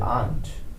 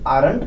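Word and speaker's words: aren't: और there आर नॉट, इसको बोलेंगे देयर आंट। देयर आरंट नहीं बोलना, इसमें लिखा तो आरंट है, लेकिन आर इसमें साइलेंट होता है, इसे बोला जाता है आंट।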